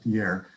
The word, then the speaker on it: Pierre: You would pronounce it Pierre.